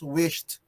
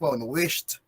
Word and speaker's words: wished: correct answer the pronunciation remember michael that is wished okay we pronounce the idi as letter t okay can you say that again michael i am very good without microphone wished wished okay so very good can i see your